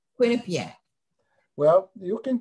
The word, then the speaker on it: Quinnipiac: correct an alum but i think we pronounce it quinnipiac with the emphasis on the queen quinnipiac well you can correct